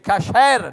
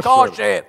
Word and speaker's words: kasher: Si dice kasher, non kosher. Kosher, kosher.